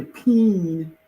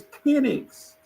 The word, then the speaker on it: Penix: You don't have to say peen. It's Penix.